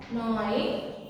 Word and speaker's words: gnawing: So G must be silent. We should not pronounce and we should not say G. From here we have to, from here onwards we have to pronounce gnawing, gnawing teeth.